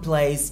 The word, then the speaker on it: plays: Exemple, Tom plays tennis. Tom joue au tennis. Et le son S est prononcé Z.